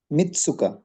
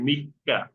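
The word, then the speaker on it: 三日: ইসনি সানিন এখানে নিব নিবানের উচ্চারণ কি হবে মিতসুকা মিসুকা না এটা হবে মিক্কা ও সরি মিক্কা মিক্কা আচ্ছা তিন চার পাঁচ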